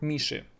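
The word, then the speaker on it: мышь: RBA RBA for then pay attention to how I said the word Mish Mish if you notice how it's spelled it's spelled with meh and then there is e but do notice how I pronounce it I say Mish I don't say m I say m Mish if there is a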